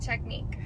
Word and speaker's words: technique: tell me what is the sound that the i in the word technique produces e correctly i agree with you